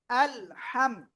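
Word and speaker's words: الحمد: আল হামিম জবর হাম গলাটা চেপে মুখ দিয়ে বাতাস বের করে উচ্চারণ করতে হবে আলহামদ দাল পেশু আলহামদু আল হামদু সবাই একসাথে জোরে জোরে বলেন আলহামদুলু আমিন।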